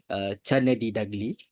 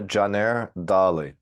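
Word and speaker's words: Caner Dagli: Chanadi Dagli, which I believe that needs no further introduction, but I will read a bit of his biography.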